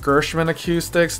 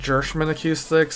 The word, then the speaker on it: Gershman Acoustics: It's actually pronounced Gershman Acoustics, not Gershman Acoustics.